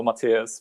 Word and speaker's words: Matyáš: why i find out it's way easier for everyone to call me like you know matthias because i know they